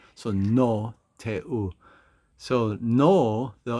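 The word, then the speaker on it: Roh Tae-woo: So No Tae-u. So no, though, it's like just like the word no, N-O.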